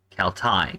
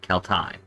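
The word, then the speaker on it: Celtae: be Kel Thai because this combination right here with the A and the E is pronounced I.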